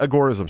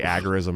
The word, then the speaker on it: agorism: a little bit about agorism so and i said it right that time uh i always say agarism and people are like it's a gorilla yeah it's it's mises